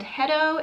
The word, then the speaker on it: Hetto: that i'm testing out today is the brand hedo it's spelled h-e-t-t-o and i've obviously already opened the